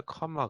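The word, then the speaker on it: comma: 램 말하고 바라봐야 된다 그런데 영어에서는 자음이 2개 겹치게 되면 아름이 좀 약해 집니다 그래서 애마 그 다음에 컨 말하고 하는 것이 아니라 커마 그렇게 발음 해요 그래서 때마다 고한다 해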